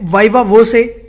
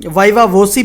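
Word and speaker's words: viva voce: अगला शब्द है वाइवा वोसे। इस शब्द के प्रोनाउंसिएशन को बहुत तरीके से बोला जाता है। वाइवा वोसी भी बोला जाता है, वाइवा वोची भी बोला जाता है, वाइवा वोसे भी बोला जाता है।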